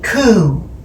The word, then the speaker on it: coo: she called me cooy coup now she probably got that because I am a cow that originated in the highlands of Scotland in Scotland they pronounce cow as cou when she said my